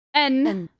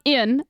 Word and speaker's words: en: Heeft, hij heeft, not heeft, en, not in, en, appel.